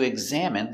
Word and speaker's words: examine: Pronunciation, examine. Egg. Z, eggs, eggs. Exact. Exam, exam. Examine. Examine. Examine. Stress on the second syllable.